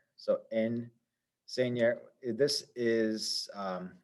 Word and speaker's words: enseña: This has got 3 syllables to it. Enseña. This is the stress syllable, the second to last syllable.